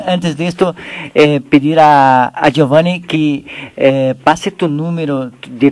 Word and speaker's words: Giovanni: Mi nombre es italiano, se escribe Giovanni con G de gato y O, B pequeña, O V.